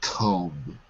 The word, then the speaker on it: comb: Like the word comb. I'm combing my hair, not combing.